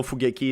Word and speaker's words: Fugeki: those who don't know fugaki is how you pronounce my name so fugeki and um the logo